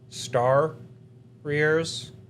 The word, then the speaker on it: Stariors: It is spelled like warriors, but instead of the W, you have ST in front because Star Rears.